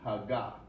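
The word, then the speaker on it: הגה: médite là l' regardé en hébreu c'est haga ok vous prononcer comme ça vous prononcez lu haga ok mot ça qui ça mot ça v dire mot ça dit réfléchir penser étudier.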